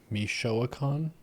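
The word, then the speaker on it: Michoacán: Michoacan? Oh, is that how it's pronounced?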